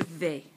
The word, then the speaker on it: vais: Je vais. Je vais. Notice the S is silent.